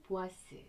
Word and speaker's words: 보아스: B는 보아스, J는 야긴이라고 읽습니다. 옛부터 내려오는 이야기에 따르면 예루살렘의 고대 사원에는 이런 기둥들이 있었대요.